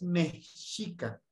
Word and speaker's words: mexica: la tabla número tres es correcto también pronunciar mexica o mexica lo lo correcto es mexica de Messi Okay ahorita se refiere